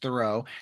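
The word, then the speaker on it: Thoreau: I Yes, it's thorough. Like I do a thorough job and I had to learn that when I moved here, too.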